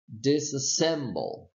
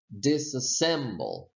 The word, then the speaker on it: disassemble: you take a look you have a secondary stress here so meaning the syllable disk will be secondarily stressed and then the syllable sim will be primarily stressed so the pronunciation is disassembled disassembled ok let's move on